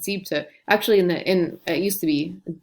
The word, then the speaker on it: siebte: You lose that syllable. It's not siebente, but siebte.